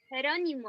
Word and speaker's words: Jerónimo: How do you say Geronimo in Spanish? Jerónimo.